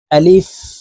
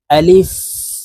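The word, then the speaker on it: ألف: সঠিক উচ্চারণ হবে না আলিফের উচ্চারণ তাড়াতাড়ি করে পড়তে হবে আলিফ আলিফ লাম আলিফ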